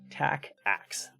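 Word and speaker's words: TACACS+: cisco's tacax plus and that is how you pronounce that by the way tack axe all right all right all right let's take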